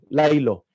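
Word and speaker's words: Laylo: Res, ang Presidential Commission uh for Communications Office at ang Lilo It's it is spelled L A Y L O. Lilo.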